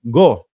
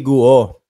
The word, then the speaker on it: Guo: si ah mayor Alice go sabi nung kaibigan ko Mark ang pronunciation niyan hindi guo go ano parang dudugo ilong